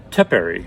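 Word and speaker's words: tepary: an entire pack and they're called tepari I think that's how you pronounce it t-e-p-a-r-y beans they're a small Bean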